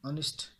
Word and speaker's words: honest: An honest man, honest produces even if there is H. that produces oil sound. H is silent there, that's why N is used there.